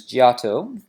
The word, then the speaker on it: Giotto: the forerunner to the Renaissance his name is Giotto which is spelt GI o TT o giotto and this